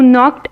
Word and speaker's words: knocked: Do you know who knocked at the door? So the silent letter is in this word, and which is the silent letter? K.